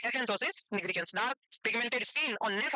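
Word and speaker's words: acanthosis nigricans: भाई मेरे को ऐसे ही बोलना था, इसका मीनिंग एकेंथोसिस निग्रिकेंस से ही बोला होगा, पता नहीं, तो प्रोनाउंसिएशन ऐसा ही है, एकेंथोसिस निग्रिकेंस।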